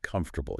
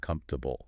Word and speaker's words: comfortable: Take a word like comfortable. You read it, you might think, verbal. 4 syllables. But then you listen, and you keep hearing native speakers say something like comfortable. Right. More like 3.